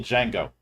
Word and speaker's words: Django: He's going full Django. And remember the D is silent.